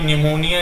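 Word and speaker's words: pneumonia: Lungs की बात कर लें अगर हम, तो लंग्स से संबंधित है हमारी निमोनिया, इसमें पी साइलेंट रहता है।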